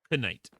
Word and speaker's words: knight: Why is there a silent K in night? No, not K. Yeah, K. Knight.